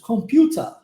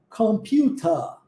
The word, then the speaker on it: computer: aberto que isso computer Porque apesar da pronúncia do er e no inglês americano e canadense ser mais fechada viu como que a gente bola bem a língua no inglês britânico que compõe aí a Irlanda Austrália Nova Zelândia a própria Inglaterra você escutará esse esse er mais aberto a computer viu Ok então há essa